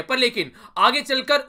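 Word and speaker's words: Chile: है ये है चिले, या फिर इसको कई बार चिली भी आप लोग बोलते हैं, तो इसका याद रखिएगा, इसका नाम प्रोनाउंसिएट कई तरीके से इसको कर लेते हैं लोग, नॉर्मली इसको चिले बोलते हैं।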